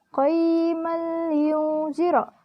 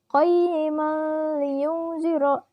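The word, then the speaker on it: قَيِّمًا لِيُنْذِرَ: Nah, qayman liyunzira di sini hukumnya idgham bila gunnah. Karena apa? Karena huruf mim berharakat fathah tanwin bertemu huruf lam tasydid. Dibacanya lebur tanpa dengung dan bunyi tanwinnya pun hilang. Qayman liyunzira.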